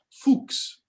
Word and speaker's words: Fuchs: was born in vietnam fuchs you know is how you would pronounce it it means fox in german and he emigrated when